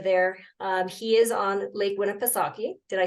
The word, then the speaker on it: Winnipesaukee: He is on Lake Winnipesaukee.